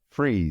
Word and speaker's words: Fries: uh f i s the last name is pronounced with the F sound followed by the r sound as in Fry and then the e e sound as in C freeze f FR fries no